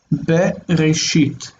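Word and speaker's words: בראשית: Okay, so let's go ahead and just look at how we pronounce the verses in question. The first verse in Genesis 1 is Bereshit.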